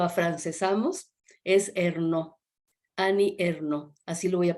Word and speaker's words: Ernaux: extraordinaria trayectoria Ani erno Yo la voy a pronunciar a los a los a la francesa en silo castellanizamos pues es hernaux pero silo a francesamos es no Ani erno así lo voy a